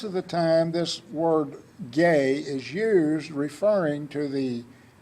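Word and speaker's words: γῆ: is the Greek word gag GA descent is pronounced gay and this word is used some 82 times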